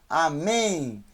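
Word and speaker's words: אָמֵן: mais bem mas é mais um em um amém amém não é com ele no final é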